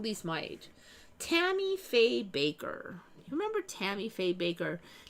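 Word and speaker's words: Bakker: A lot of us remember it being B A K E R. Baker. It looks like Backer now. Tammy Fay Backer. But it's it's still pronounced Baker as far as I know.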